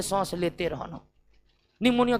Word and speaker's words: निमोनिया: कोई दिक्कत आइए एक बार देख लेते हैं निमोनिया जिसके नाम में पी साइलेंट रहता है यह दो प्रकार के बैक्टीरिया